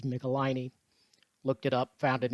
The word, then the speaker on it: Michelinie: michelani and you know i only recently learned how to pronounce that word so hopefully i'll say it correctly throughout this video it is michelini looked it up found